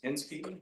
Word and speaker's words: Hensky: Let's see, number 47, is it Ms. Hensky? Yes, that's correct. Did I say it right? Yes, you did.